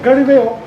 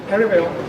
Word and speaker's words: Galileo: Alors ça se prononce en anglais, Galileo. Galileo.